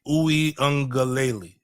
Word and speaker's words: Uiagalelei: Uiagalelei.